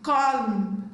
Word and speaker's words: column: Letter N is silent in the word autumn, column, condemn, dam, hymn, solemn, male guy, not Gavi, male guy.